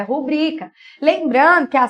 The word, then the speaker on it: rubrica: proparoxítona tem acento mas não é rúbrica meus amores é rubrica Lembrando que a sílaba